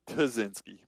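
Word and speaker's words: Ptazinski: He says the P is silent, so it's Tazinski.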